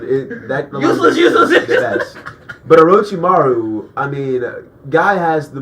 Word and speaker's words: Orochimaru: Next, we have Dio from JoJo's versus Orochimaru, which is the only way to pronounce his name. If you don't, Orochimaru.